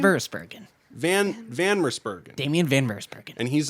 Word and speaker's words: Van Mersbergen: Van Mersbergen.